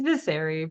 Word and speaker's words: Vyseri: It's Vyseri, but it's also Vyseri.